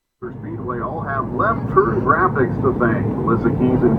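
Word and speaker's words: Grafix: Graphics is spelled G-R-A-F-I-X. Left Turn Graphics.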